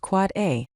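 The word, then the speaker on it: AAAA: An Quad A record, pronounced Quad A, maps a domain name to an Internet Protocol version 6 address.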